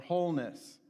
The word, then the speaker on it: wholeness: say our Focus statement with all the W's for wholeness even though it's a silent w so what Wellness